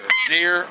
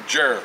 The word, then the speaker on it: gyr: f a deer Falcon deer or Jer you can call it either way spel g y r